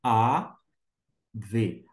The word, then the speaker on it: אָב: um baixo sonzinho a Deixa eu fazer aqui a v Av Av significa literalmente p a a transliteração